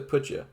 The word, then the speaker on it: Poetje: Wait, no, he said it was Poetje. I've gone back to mispronouncing it. In my head, it's almost like Poacher.